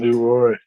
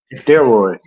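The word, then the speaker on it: Delroy: Leroy. Leroy. No, actually it's not Leroy. It's uh It's not Leroy. Deroy.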